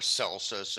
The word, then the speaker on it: Celsus: Okay, now I wanted to touch on Contra Celsus, or Celsus, as people might pronounce that name.